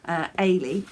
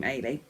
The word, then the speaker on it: Ailey: I had to look up how you pronounce it. Ailey. It is by Mary Henderson. It's a Scottish name, Ailey.